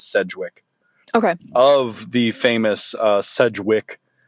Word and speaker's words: Sedgwick: Well, it seems like it's a lot of people pronounce it differently, but the most common pronunciation I've found is Sedgwick.